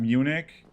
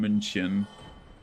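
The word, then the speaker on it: München: That's like uh so in like English the English pronunciation bayan Munich but like the um German version is Bayan Munchin because it has an uh on it like the U with the two dots on top.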